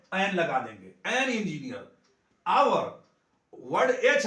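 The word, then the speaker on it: hour: क्या हो रहा है, आवर, ओ आ रहा है ना, आवर, तो आवर से स्टार्ट हो रहा है, इसका उच्चारण ओ से शुरू हो रहा है, इसके लिए पहले हम इसका एन लगा देंगे।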